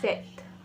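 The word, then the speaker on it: 셋: धूल हना धूल धूल थ्री को कहते हैं सेथ एस टी टी सेथ हना दूल सेट फॉर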